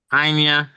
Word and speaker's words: Anya: Say it your way. Anya, you see that's that that's the right word.